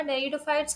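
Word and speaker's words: Pteridophytes: टेरिडो, इसमें P silent होगा। टेरिडोफाइट्स वो होते हैं, वो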